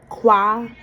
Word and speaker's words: Qualesa: The way you pronounce my name is Quala.